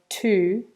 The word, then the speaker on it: to: Also the sound on to gets reduced to a schwa, so it sounds more like t. And in fact, sometimes when we say it really fast, we don't even pronounce the vowel. It just sounds like t, just the consonant sound on its own.